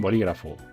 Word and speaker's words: bolígrafo: luego teníamos las esdrújulas las esdrújulas tienen la sílaba tónica en el antepenúltimo lugar es decir aquí como por ejemplo en bolígrafo boli kraft no está en el último lugar